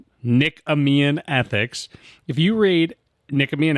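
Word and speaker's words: Nicomachean: I can never pronounce it. Nikkamian. Nikameian ethics.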